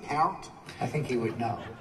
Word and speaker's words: Peart: Peart's sandwich. It's just Peart. You sure that it's not Peart?